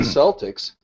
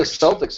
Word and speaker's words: Celtics: actually even simpler because if the C is followed by the vowels I or the vowels e it will be a soft C but if it's followed by a o or U it's a hard C but the problem is is that nobody remembers the rule well right and this is why people say the Boston Celtics right even though they're not the Celtics it's the Celtics yeah